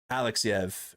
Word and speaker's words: Alexeyev: Alexeyev.